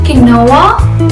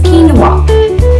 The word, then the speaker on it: quinoa: was some time back, they often call it quinoa owing to its spelling the way it's read, but the correct pronunciation is quinoa.